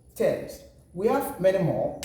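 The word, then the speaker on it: Thames: called text terms yes it is not going to be taste we rather call it terms we have many more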